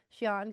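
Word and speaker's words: Sian: S I A N Shian. Shan Clifford. That's who that actress is.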